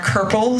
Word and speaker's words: curple: And the two words that rhyme with orange in English are curple, C-U-R-P-L-E, and herple, with an I in there.